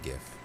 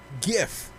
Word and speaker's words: GIF: it could be pronounced jif but i pronounce it gif it is pronounced gif it's basically gift like in present without the t i've heard jiff i've